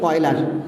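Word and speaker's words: Euler: Mathematician আমরা বাংলায় উচ্চারণ করে থাকি অয়লার।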